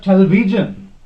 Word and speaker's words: television: will be put and in case of television television television okay television b is second from n okay then hypertension hypertension